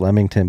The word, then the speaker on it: Leamington: the uk in lemmington lemington spa it's pronounced lemington but it's spelled leamington l-e-a-m-i-n-g-t-o-n a town in